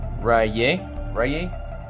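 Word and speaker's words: Sky Striker Ace - Raye: Running one Sky Striker Ace, Rye? That's how you pronounce it.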